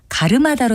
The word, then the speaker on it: 갈음하다: 그런 이유 중에 하나인데요 특히 가르마다와 갈음하다는 제가 글자로 쓰는 대로 발음해서 말을 했지만 실제는 가르마다로 똑같이 발음되기 때문에 혼동하는 일이 상당히 많습니다